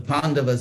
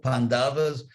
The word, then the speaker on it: Pandavas: In Ukrainian, is it like Polish where you always accent the second to last syllable, Pandavas?